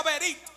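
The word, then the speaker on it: בְּרִית: bien amado cuando traducimos la palabra pacto al hebreo se pronuncia verit y en griego se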